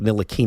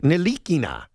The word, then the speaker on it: Ntilikina: And I did this once, even though it backfired, with Frank Ntilikina.